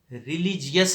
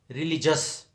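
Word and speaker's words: religious: اور پھر ریلیجیس نہیں، ریلیجس.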